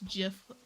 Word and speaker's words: GIF: The creator says it's GIF with a soft G.